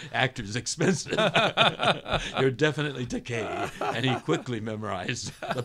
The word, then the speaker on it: Takei: The E-I in my surname, Takei. Yeah. People want to give the Germanic pronunciation, like Einstein. Right. He called me George Takei. Right. And so I said, well, it's pronounced Takei.